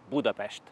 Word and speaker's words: Budapest: Sports of Budapest or as we hungarians pronounce it Budapest first on my list